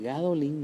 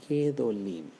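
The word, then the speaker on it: גדולים: Ahora, pero cuando vamos a decir gadolim, en vez de decir gadolim, nosotros decimos gedolim.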